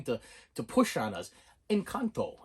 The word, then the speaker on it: Encanto: to push on us in kanto and kanto yeah not enchanto okay there's no h in there you you illiterate fool